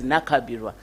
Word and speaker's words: Nankabirwa: Nankabirwa, but they pronounce it as Nakabirwa.